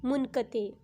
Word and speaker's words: منقطع: آپ ذرا سوچیں کہ آپ کون سا لفظ ادا کرتے ہیں، منقطع یا منقطع؟ جی بالکل، اس کی درست ادائیگی ہے منقطع۔ تو اسٹوڈنٹس اب بتائیے کہ ان دونوں میں سے درست تلفظ کون سا ہے؟